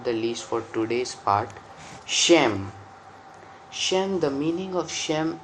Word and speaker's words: Shem: Hebrew it is pronounced as Sem. S-E-M, Sem.